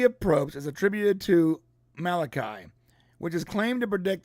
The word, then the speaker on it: Malachi: But it's Malachi.